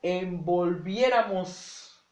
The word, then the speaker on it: envolviéramos: Bueno, la palabra envolviéramos se divide en 5 sílabas. ¿Ok? Envolviéramos. Y entonces es una palabra que está acentuada en la antepenúltima sílaba.